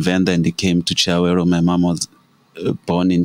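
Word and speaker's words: Chiawelo: But Chiawero, it's a Venda name. Oh, okay. You know, so that's how we pronounce it. Chiawero, which means a resting place or where you relax.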